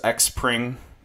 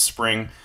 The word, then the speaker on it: XPRING: many use cases of spring so I know it says X Pring but it's actually pronounced spring I like it I